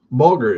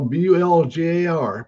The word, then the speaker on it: bulgur: Bulgur is spelled Bolger. Yeah, it's probably Bulgur, maybe Bul. There you go, Bulgar. Bulgur. That looks more correct right there.